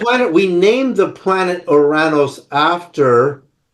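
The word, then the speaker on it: Ouranos: We named the planet Oranos after, as it's pronounced in Greek, we call it Uranus.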